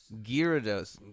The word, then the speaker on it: Gyarados: and he'll know that he'll know the real pronunciation perfect gyarados it means terrible fish that's right exact that's